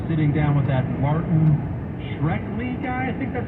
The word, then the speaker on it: Shkreli: Okay, from a month ago, Tucker was sitting down with that Martin Shkreli guy, I think that's how you say it.